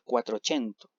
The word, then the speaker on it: Quattrocento: En primer lugar, el Quattrocento, como se pronuncia más o menos así, que correspondió o